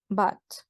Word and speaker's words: but: conector Ok y acuérdense la pronunciación es Bad no es una u tampoco es como tal una a está en medio entonces se están refiriendo